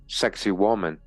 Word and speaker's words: Sacsayhuaman: All right, it says here the ruined mountaintop fortress of Sacsayhuaman, Hawaman, Sacsayhuaman, pronounced Sacsayhuaman, overlooks the ancient capital of Cusco.